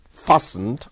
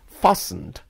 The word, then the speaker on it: fastened: that is not firmly fastened or tight and please the word is fastened not fastened you don't pronounce that in it here's an example my